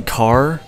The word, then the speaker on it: Carr: you is this apparently Carr with two RS car's sister is pronounced with a rolling R so car again there